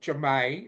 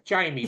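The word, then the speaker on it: Ja'mie: he did a young girl called Jamae. It's Jamie, Yeah. but it's pronounced as Yeah.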